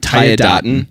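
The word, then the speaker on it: Tiadaghton: Tayadaten?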